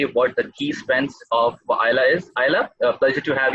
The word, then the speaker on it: Ayla: Am I pronouncing it right? It's Ayla? Absolutely. It's Ayla.